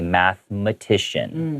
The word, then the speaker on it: mathematician: expert in math but even though there's an e in the middle of that word you don't pronounce that e you just say mathematician okay born in 1912